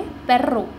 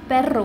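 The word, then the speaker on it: perro: आर ओ रो, तो इस word को कैसे प्रोनाउंस करेंगे, पेर्रो। पेर्रो, पेरो नहीं, पेर्रो।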